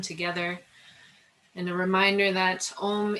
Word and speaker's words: Om: sound of a single Om together. And a reminder that Om is really 3 syllables, A, O, and it is the sound of yoga itself.